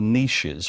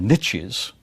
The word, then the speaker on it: niches: parts of the world very similar niches, or niches, forgive my British pronunciation on that, you'll find very similar